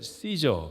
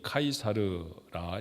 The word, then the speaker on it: 카이사르: 하는 사람이에요 카이사르 불렀지만 우리 옛날에는 시저 그렇게 불렀던 있습니다 그런데 원래 라틴어의 발음에 더 가까운 이름이 카이사르 이제 요즘은 카이사르 부르죠 카이사르가 얼마나 유명한 사람이냐면